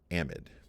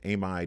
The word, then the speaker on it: amide: change the ending to amide. And many times this is pronounced amide. In fact, I think probably more people pronounce it amide.